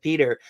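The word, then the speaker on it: Petr: Because it's a little different than it looks, said Peter.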